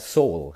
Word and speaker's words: sole: so how do you make this soul water pronounce that soul how do you make it so you take